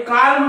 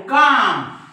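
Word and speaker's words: calm: याला बालम याला पालम पण हे कालम नाही हे आहे काम कारण एम च्या वर एल चा उच्चार होत नाही याला कोणी बालम म्हणेल हे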